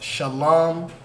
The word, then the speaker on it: Shalom: I'm so lazy so that first word is pronounced Shalom right and the next one